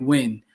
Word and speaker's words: Yuen: It's by Mike Wynn. The last name is spelled Yuen.